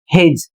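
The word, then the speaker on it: his: अगला शब्द है एच आई एस हिज और इसका अर्थ होता है उसका या फिर उसके।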